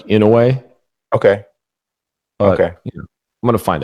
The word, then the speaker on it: Inoue: I've heard Inouye, so I don't know if that's maybe because I don't know. I haven't heard a an announcer from his part of the world and now say his name, but I haven't seen that. But I hear you. I'm not sure. Have you heard it pronounced differently? I think I heard like Inoue.